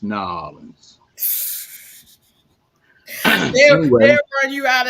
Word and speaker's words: New Orleans: It's pronounced New Orleans.